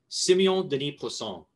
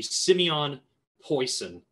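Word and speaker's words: Siméon Denis Poisson: Simeon Denis Poisson. That's the French way of saying it. I practiced this. The American way of saying it would be Simeon Poisson. And I'm offering both pronunciations, and you can pick whichever one you prefer to hear coming out of my mouth.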